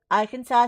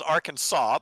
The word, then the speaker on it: Arkansas: that's how it's spelled it's funny isn't it it's Arkansas but if you look at it it's our Kansas I know I